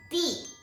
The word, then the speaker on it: 地: If it's not used as a particle, then it is very often pronounced as 地.